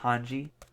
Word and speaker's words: Hange: We got Hong here, which I believe I was told is pronounced Hanji.